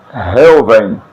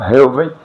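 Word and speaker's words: ראובן: Ela é transliterada por BH, só que tem o som de V. Então a pronúncia fica assim, Reuven, tá? No hebraico, Reuven, que quer dizer Ruben, tá?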